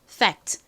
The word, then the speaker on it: fact: 그래서 사실 저희가 콩글리시로 팩트 이렇게 발음을 하지만 실제 발음은 팩트가 아니라 fact 이렇게 거의 쌍비읍에 가까울 정도로 좀 세게 발음이 됩니다.